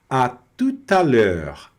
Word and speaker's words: à tout à l'heure: Aqui no início tá tranquilo porque nós já vimos que o O mais U vira U, então é a tout, tout. Esse T fica mudo praticamente, esse E não vai